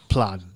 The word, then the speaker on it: Plaid: Is that how you pronounce it? Plaid. Not Plaid? No. Plaid. So Okay. you know, Fancy. It's very British. No, it's like the checkered shit. Oh, so Right. yeah. I started saying played for the longest time as well.